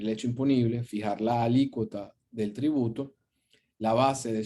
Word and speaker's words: alícuota: de febrero la o el acento en la palabra alícuota está en la letra y por lo cual la palabra se pronuncia alícuota una alícuota cómo desafortunadamente